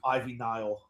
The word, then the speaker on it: Ivy Nile: Ivy Nile.